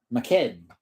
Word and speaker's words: Mackhead: Mackhead. Got to say it fast, so it sounds like all one word. Mackhead. 2 syllables. Guess it would be anyways. Mac and head.